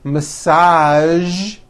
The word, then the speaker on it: massage: casual television very good now there are only a few words that have the voiced sound at the end a few of these words are the color beige the word massage and the word prestige okay now that you